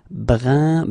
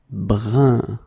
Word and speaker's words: brun: All right, brun, same thing, it's not brun, but it's brun.